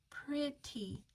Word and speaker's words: pretty: In this word, pretty, the E has kind of an I sound, short I. So we're going to learn by heart, pretty.